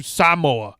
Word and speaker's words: Samoa: Um and the second they go to Samoa. H which is later in the movie. He's like we're going to the island of Samoa. He's Yeah. We're going home to to Samoa.